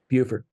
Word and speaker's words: Buford: Buford.